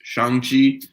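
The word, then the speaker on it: Shang-Chi: they actually announced that it is pronounced yeah they they said that it was shang chi so i'm gonna stop saying shang chi it's shang chi um but yeah they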